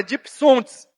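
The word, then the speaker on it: διψῶντες: É difícil a pronúncia, mas é dipsontes, que quer dizer sedento, morrendo.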